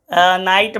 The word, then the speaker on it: knight: हम लोग GH silent वाले शब्दों को देख रहे हैं, KNIGHT, नाइट मतलब मैंने आपको पहले भी पढ़ाया था, घुड़सवार योद्धा, और एक शब्द और लिख लो, NIGHT, नाइट मतलब क्या होता है, रात। तो ये सब जो शब्द आप देख रहे हो, शब्दों में क्या है, सबों में GH साइलेंट है, इसमें भी देखो GH साइलेंट है।